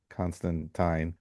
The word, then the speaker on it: Constantine: character that he would emphasize that it was pronounced Constantine.